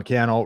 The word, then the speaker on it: Cannell: uh my name is Sean Cannell rhymes with YouTube channel hit like if you